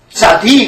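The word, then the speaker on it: צדי: 약해지잖아 그래서 그렇습니다 자 자디 그랬어요 제가 자디 또는 이렇게 꼭 그렇게 들려요 그 본토 발음이 그렇습니다 그러면 제가 연구해볼 때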